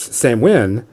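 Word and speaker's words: Samhain: And so he brought me this Sam Win, which is spelled Sam Hain.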